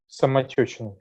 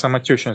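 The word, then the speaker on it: Самотёчная: I'll let you do the pronunciation. Mm-hmm. Poltergeist on Samotechnaya. Samotushin. Okay, tell us about this. Samotechnaya. Samatushna. Yes, Samotechnaya.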